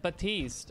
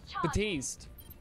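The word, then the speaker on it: Baptiste: can one-shot most tanks the P is silent I know that's why I said batiste I'm not saying but East saying batiste Daria I would thought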